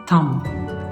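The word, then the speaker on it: thumb: और यहाँ पे B की साउंड हम नहीं प्रोनाउंस करेंगे. दिस इज थम, दिस इज थम.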